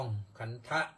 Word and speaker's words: ขันธ์: ทะ แต่ เรา มา ใส่ การัน ที่ ทอ ธง ก็ ก็ อ่าน ออก เสียง ว่า ขัน อย่าง เดียว ใส่ การัน หรือ เขา เรียก ว่า ทันตฆาต คือ คาต เสียง คาตะ ก็ ก็ คือ ฆ่า คา เสียง ตัว นั้น น ที่ ออก เสียง ว่า ขันธะ นั้น มัน ไม่ ต้อง ออก ออก เสียง พอ ใส่ การัน แล้ว เรียก ว่า เอ่อ ขัน เฉย ๆ หรือ อุปาทาน ขันธ์ อย่าง